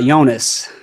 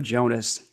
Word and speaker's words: Jonas: It's Jonas instead of Jonas. Yeah, spelled with a Y, pronounced with a Y. But a lot of people will spell it with a J and pronounce it with a J.